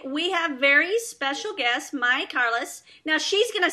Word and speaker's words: Mayi Carles: You pronounced it really well. I was close. It was really close. Mayi Carles, the Panamanian version, but you almost got it perfect.